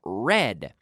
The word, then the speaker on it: read: I read yesterday I read read the pronunciation in the past is just like the color red okay to read now